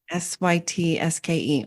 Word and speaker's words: Sytske: It's seat, like you're taking a seat. It's seat. Yep, that's right. Sytske.